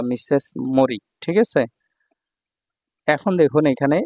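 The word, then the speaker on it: 森: যে কাঞ্জিটা আছে দেখুন 62 নাম্বার এটা হলো মরি মরি হচ্ছে বন বা জঙ্গল এটার চাইনিজ উচ্চারণ হচ্ছে শিন শিন ঠিক আছে এটা যখন সিঙ্গেল থাকবে একাকি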